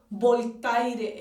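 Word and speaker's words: Voltaire: habla de un hombre llamado boletaire en español pero es francés y se pronuncia claro como los franceses era un filósofo poeta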